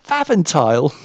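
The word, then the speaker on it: Pfaffenthal: um some piper how on earth do you pronounce this it was p f a f f e n t h a l faventile i've been i've been through um holland once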